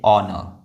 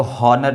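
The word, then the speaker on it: honor: इसको पढ़ेंगे ऑनर, ऑनर, ऑनर। एच जो है वो साइलेंट है, इसको हॉनर नहीं बोलेंगे, क्या बोलेंगे? ऑनर।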